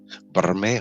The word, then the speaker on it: Bermejo: I like saying it different ways because I think it can be pronounced different ways, but like traditionally it would be Bermejo.